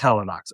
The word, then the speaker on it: Helinox: I have never figured out how to pronounce the company name. Helinox, or is it Helinox? Yeah. It is Helinox.